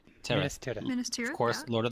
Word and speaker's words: Minas Tirith: Minas Tirith.